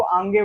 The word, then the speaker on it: आगे: अच्छा, ये बहुत कॉमन मिस्टेक है, हम सभी करते हैं, आगे को आंगे बोलते हैं, लेकिन वो आगे है सही उच्चारण है, तो उसको सुधारे।